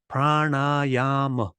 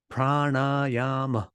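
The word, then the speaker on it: prāṇāyāma: the speaking pranayama pranayama it's got four syllables and the first three of them are long and it's really easy to see that because there are three long vowels Prana the n Sound is not on your teeth it's on the roof of your mouth the reason why you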